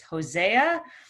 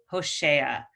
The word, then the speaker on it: Hosea: back and forth between the english pronunciation which is hosea and how we pronounce it in hebrew hoshea um so same prophet